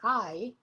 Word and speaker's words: hai: Quanti anni, years, hai. And listen to that I. There is no H in Italian. We don't pronounce the H, so it's just I.